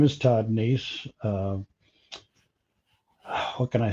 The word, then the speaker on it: Neiss: Neiss?